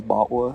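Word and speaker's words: BotW: into the B bwa in my head I always like pronounce the acronym for breath of the wild as bwa I I don't know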